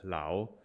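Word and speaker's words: 劉: The surname Liu in Taiwanese is pronounced Lao.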